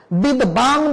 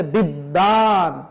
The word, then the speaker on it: বিদ্বান: বিশ্বনা, বিশ্ব, বিদ্বান বলা যাবে না, বলতে হবে বিদ্বান।